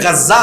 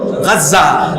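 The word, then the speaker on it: غزة: পাশে দেখবেন বর্তমানে যেখানে গাজ্জা অবস্থিত আপনারা গাজা বলেন আরবিতে উচ্চারণ হল গাজ্জা যেখানে গাজ্জা অবস্থিত সেখানে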